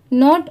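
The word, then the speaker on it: know: shapes S एच ए पी ई S shapes not only what we ये है नो अब यहां पर देखिए इसे कनो नहीं पढ़ेंगे यहां पर के लेटर साइलेंट है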